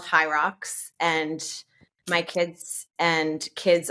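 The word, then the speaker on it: HYROX: Fitness competitions uh so we compete they're called high rocks and my kids and kids of my friends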